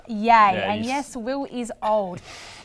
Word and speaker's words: Ye: kane also known as ye that really shows your age will because it's pronounced yay and yes will is